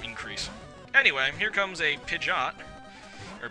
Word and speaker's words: Pidgeot: anyway here comes a pidot or Pidgeot or I've heard this name pronounced a billion different ways pidet I I've heard people pronounce it and apparently that's the right one I'm not even sure